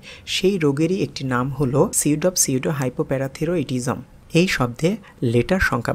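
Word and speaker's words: pseudohypoparathyroidism: Number 3, এখানে যে শব্দটি রয়েছে সেটিও একটি বড় শব্দ, তাই আমি প্রথমে একটু ভেঙে উচ্চারণ করছি, সিউডো হাইপো প্যারাথিরোইডিজম। দেখুন আমি আবার উচ্চারণ করছি, সিউডো হাইপো প্যারাথিরোইডিজম। এবার একটু তাড়াতাড়ি উচ্চারণ করছি, সিউডো হাইপো প্যারাথিরোইডিজম।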